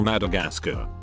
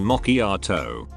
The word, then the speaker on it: macchiato: I was working for Starbucks, and a customer ordered a caramel Madagascar, so I laughed, thinking it was a joke, and repeated it back correctly as a caramel macchiato.